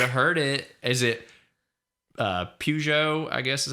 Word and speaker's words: Peugeot: Is it Peugeot, I guess is how you say it, Cadillac, Alpine, or Ferrari? Peugeot.